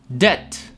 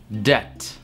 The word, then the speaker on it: debt: В этом слове тоже не нужна B. Debt. Просто без B. Debt.